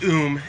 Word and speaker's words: Um: it was called um it's pronounced oom and as with the